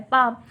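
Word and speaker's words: palm: Thumb भी पढ़ेंगे ना, लेकिन होता क्या है, थंब होता है पाम, उसमें एल साइलेंट हो जाता है।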